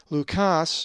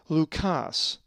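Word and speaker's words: Λουκᾶς: If you said Lukas, you are correct, as the accent is over the alpha. Lukas.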